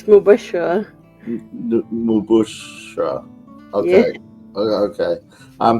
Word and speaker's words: Mubashra: It's Mubashra.